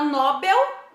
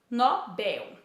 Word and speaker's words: Nobel: não é acentuado então a palavra nobel é uma oxítona o correto é falarmos nobel então temos gratuito recorde